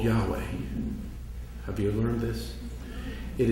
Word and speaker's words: Yahweh: So the first time they put it to words, they used Yahweh. And there is no syllables where your lips touch. It just reflects breath.